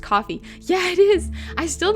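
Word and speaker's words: Ko-fi: time i didn't know kofi was just supposed to be pronounced coffee yeah it is i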